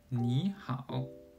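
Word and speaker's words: 你好: The first case is when 2 third-tone syllables occur together. The first syllable changes to a second tone, as in 你好.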